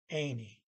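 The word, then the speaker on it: enig: But again, in this language, any just means E-N-I-G, G is silent, means in agreement.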